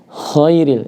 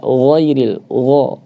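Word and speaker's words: غير: Ya, di sini jangan sampai terdengar khairil ya. Khairil, jangan sampai suaranya menjadi kha. Tetap harus dijaga agar jangan sampai berubah menjadi kha, yaitu jaharnya ghairil, ghairil ya.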